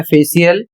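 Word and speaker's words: facial: अगला नियम है जब सी के बाद आई ए आई ई या आई ओ जैसे स्वर एक साथ आते हैं तब सी का उच्चारण श हो जाता है।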